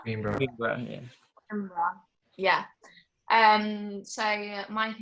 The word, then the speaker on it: Coimbra: So another thing that we did whilst in Portugal was we went to, I don't know how to say it, Coimbra? Coimbra, yeah.